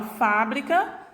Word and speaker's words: fábrica: Da mesma forma, a palavra fábrica e fabrica, né? Muda a minha sílaba tônica quando eu retiro essa acentuação gráfica.